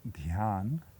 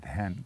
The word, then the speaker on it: dhyan: shall talk Momo Aradhana the Sanskrit pronunciation is beyond and the Bengal pronunciation is hand the song is in